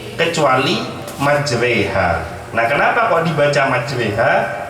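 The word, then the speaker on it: مجريها: Ada di dalam Al-Quran satu ayat yang berbunyi tulisannya Bismillahi majroha wa mursaha, tapi dibacanya Bismillahi majreha wa mursaha.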